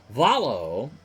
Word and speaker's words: Valo: Valo, rhymes with Rollo, at 350, 2 homers and 21 RBI.